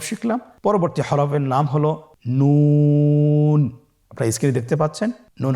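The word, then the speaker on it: ن: আপনারা জিব্বার আগাটা তার বরাবর উপরে তালের সঙ্গে লাগিয়ে উচ্চারণ করুন এবং আমার সাথে বলুন নুন। আবার বলুন নুন।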